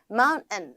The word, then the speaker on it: mountain: 왜냐면 내 눈으로는 정확하게 T라는 게 들어가 있는데 mountain이라고 안 하고 mountain 이렇게 한다고 하니까 뭐야 저게 이런 생각을 했었는데 계속 읽다 보면 그게 더 편해지더라고요. 결국에는 발음이 편해지기 위함이다라고 생각하시면 좋겠습니다. I went hiking on the mountain 하지 말고 I went hiking on the mountain on the mountain N 콧소리예요.